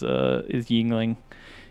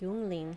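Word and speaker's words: Yuengling: So is it is it spelled with a Y, or is it actually like Yingling, like German?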